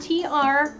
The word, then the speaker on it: tricot: Tricot is spelled T-R-I-C-O-T. It looks like tricot. It's called tricot, and it allows you to cut it without it unraveling on you.